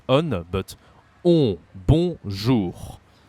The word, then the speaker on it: bonjour: Bonjour. Say again, bonjour. And there is a R at the end.